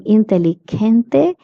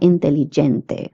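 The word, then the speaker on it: inteligente: I would like to say that g is pronounced as he and not j in Spanish. So that's why I'm saying intellente and not intelligente. Many people have the tendency of pronouncing this word as intelligente but it is intelligent.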